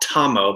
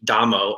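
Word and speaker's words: Damo: dammo who's also called tomm but it's actually pronounced with a D dammo or Bodhi Dharma when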